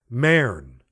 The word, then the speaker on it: Mern: She used the Elizabethan vowel, as one should pronounce bird, with no sound of you. Mern.